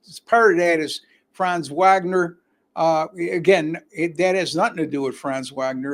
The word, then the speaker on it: Wagner: All right, so Orlando tonight will be playing without the services of Franz Wagner. I got to pronounce that correctly because he's German. It's not Wagner, it's Wagner.